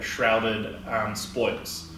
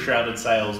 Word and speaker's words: Shrouded Spoils: Sorry, at first I thought it was Shrouded Sails, but it's Shrouded Spoils. Shrouded Spoils. And that's more difficult to say than you think. Yes. You got to say it like Shrouded Spoils.